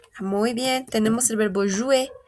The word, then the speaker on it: jouent: Muy bien, tenemos el verbo jouer. Y aquí ya está conjugado, ¿verdad? Porque son ellos juegan. Carlos, Nadia et Tibor jouent, juegan. Oui, esta Joue. NT no pronunciamos nunca. Joue o Joue.